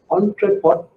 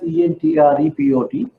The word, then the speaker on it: entrepot: trade, export trade, and entrepot trade. Don't worry so much on the pronunciation. It's spelled as ENTREPOT. I have given you a handout today. Entrepot trade. Some people pronounce this as entrepot T style.